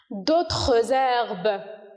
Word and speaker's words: d'autres herbes: D'autres herbes. Ici, on a fait, ou bien, voilà, on a fait de la liaison. D'autres herbes. Parce que on a une consonne et un H muet.